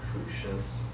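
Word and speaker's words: Crusius: How do you pronounce that? Crucious.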